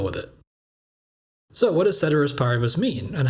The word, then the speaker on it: ceteris paribus: we're talking about, so it doesn't really make sense to pronounce the C as hard in one but soft in another.